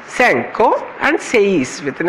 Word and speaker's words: sei: In Italian, it becomes quattro, sanke and sei, it's sei, it's not C here, it's sei. In Spanish, it's a quattro, with C, starting with C, cinco and seis with an S ending.